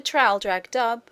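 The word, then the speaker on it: Traldragdubh: and my retinue to tr drag dub or Trill drog drip for it is pronounced both ways as near as I can remember by a party of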